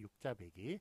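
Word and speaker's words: 육자배기: 5번 배기와 빼기가 혼동될 수 있는 단어는, 첫째, 배기로 발음되는 경우는 배기로 적는다. 귀퉁 배기, 나이 배기, 대자 배기, 육자 배기, 이런 식으로 빼기로 읽지 않거든요.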